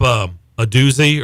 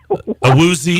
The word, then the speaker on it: Awuzie: See, you brought up a doozy, or is that how you say his name? Awuzie. Did I just say a doozy? You did.